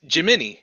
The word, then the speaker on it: Gemini: she I prefer definitely it's Gemini. giving Leo energy. Yep. Because Yeah, who it would want a really gem in their eye? It's not boy. Gemini, it's Gemini.